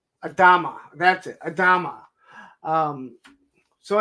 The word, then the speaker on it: Adama: same pose so it just worked um Captain Adama Adama that's it Adama um so anyway this is